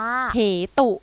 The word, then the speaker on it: เหตุ: ไหม คะ ละ นาน ทัน ที ไม่ อ่าน ออก เสียง สระอุ คา อ่ะ คำ ที่ 1 มา เลย ค่ะ โอ๊ย นึก ออก เห็น ปุ๊บ นึก ออก ปั๊บ อ่ะ ค่ะ มี อ่าน ว่า เห ตุ แน่ นอน ใช่ ไหม